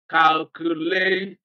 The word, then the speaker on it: calculation: And the one that applies here is I-O-N, calculation, second syllable from the end of the word.